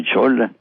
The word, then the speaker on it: Xola: En Jalapa se pronuncia como J y en Xola, que se escribe con X, se dice como con Che, como Xola.